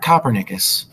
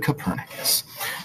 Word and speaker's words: Copernicus: That's how you pronounce his name? Copernicus. Not Copernicus, but Copernicus.